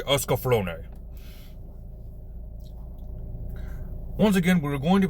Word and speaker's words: Escaflowne: from the visions of eska flown esophany they pronounce it two different ways in the anime so we'll just say oscar flonay once again we're going